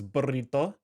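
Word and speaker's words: burrito: when you say like burito you're supposed to roll the R so it's burito um however if it's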